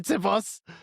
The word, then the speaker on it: Tsipos: Jorge Salvatore Tsipos. Tsipos. I say Tsipos, yeah, but I was making fun of the pronunciation.